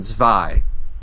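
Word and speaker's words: Zwei: oh okay so so the W's pronounced like a V gotcha yeah it's German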